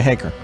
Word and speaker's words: Hacker: Hey, am I pronouncing his last name correct? I've never asked him. Haker? Haker. Okay, Haker. You got it. Sorry. No, I was mispronouncing it.